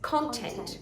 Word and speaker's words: content: words really um content did you know it's an e in the second syllable not a schwa yeah it's content content and colleague colleague expert